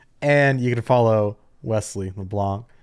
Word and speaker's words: LeBlanc: And you can follow Wes at LeBlanc Wes. It's LeBlanckwes. The C is silent, but when I say your Twitter name, I kind of say it unsilenced so people can spell it.